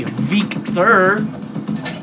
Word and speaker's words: Víctor: Or I should say, Víctor. Because it has an accent on the I.